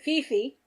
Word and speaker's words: Fifi: But Fifi, spelled F-I, but pronounced F-E, was my best friend.